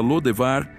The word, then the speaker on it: Lodebar: A cidade de Lodebar ficava a leste do rio Jordão, e provavelmente também era conhecida como Debir. O nome Lodebar, ou dependendo de sua pronúncia Lodevar, indicava um lugar sem pastagens.